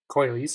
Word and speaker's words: Coylise: Oh, right, that Coylise? story. Yeah. Are you like Italian or something? Sorry, Mhm. what? It's like an Italian pronunciation.